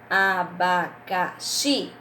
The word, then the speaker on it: abacaxi: um assento por exemplo abacaxi não tem acento mas a sílaba forte e a qual abacaxi qual seria tá certo então depois